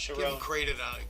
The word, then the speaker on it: Sharon: Sharon is how his last name's Ah, pronounced. Sharon.